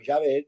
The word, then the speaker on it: Yahvé: En aquí en esta versión no usamos la palabra Jehová o o Yahé, que sería la mejor pronunciación, pero tomando en cuenta